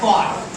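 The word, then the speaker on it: caught: क है ना और ओ के लिए मात्रा हो और जी साइलेंट है और लास्ट में टी है तो कोट कैच का सेकंड फॉम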